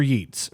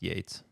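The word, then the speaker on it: Yeats: Uh William Butler Yeets from Ireland in 23. I have not read anything from him, but obviously he's pretty sure that's pronounced Yates.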